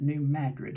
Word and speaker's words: New Madrid: series of earthquakes struck New Madrid Missouri or they might pronounce it new grid in that area Missouri on February 7th